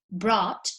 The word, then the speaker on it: brought: as you can see the only difference is the o and the a be careful with this because the pronunciation is the same you say ott ot for example you say brought but you also say